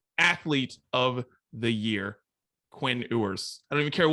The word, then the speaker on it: Ewers: Quinn Ewers.